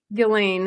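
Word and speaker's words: Ghislaine: Gain is how you say it.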